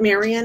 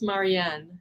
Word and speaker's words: Marien: So it's not Marian, it's Marian? It's MARIEN, yeah. Oh, I Yeah. love that. I've been saying it wrong.